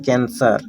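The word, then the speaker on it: cancer: कैंसर, कैंसर। सी के बाद ई है तो यहाँ पर स होगा, ये तो कैंसर, ये स होगा।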